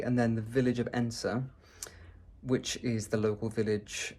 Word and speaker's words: Edensor: It's difficult because it's spelled e d e n s o r, but it's pronounced Edensor.